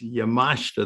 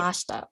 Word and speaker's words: Yamashita: One, my name is Yamashita. That's the best pronunciation. The I silent. So it's Yamashita.